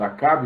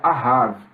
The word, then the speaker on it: Ahav: Acabe é uma palavra que nós falamos Acabe, mas o original desse nome no hebraico se pronuncia Ahav, que significa amigo do pai.